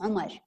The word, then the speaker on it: عمر: حتلاحظوا انه يعني اذا حكيتوا مثلا عمر, no, it's عمر, okay? When you teach, don't use the English pronunciation for the names in Arabic.